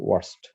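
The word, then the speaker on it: worst: উচ্চারণ অবশ্য ওর্স্ট না, এটা ওয়ার্স্ট, ওয়ার্স্ট কেস।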